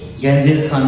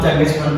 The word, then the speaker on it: चंगेज खान: Pattern of चंगेज खान, जिसको अंग्रेज गेंजिस खान भी कहते हैं, लेकिन हम चंगेज खान कहते हैं because right pronunciation is चंगेज खान, नॉट गेंजिस खान।